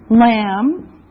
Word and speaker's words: lamb: Lamb. Lamb. Now remember the B is silent. No sound.